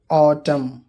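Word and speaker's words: autumn: एन, जब एम के बाद एन आता है तो वो एन भी साइलेंट होता है। कोलम, ऑटम, पतझड़ मौसम को बोलते हैं।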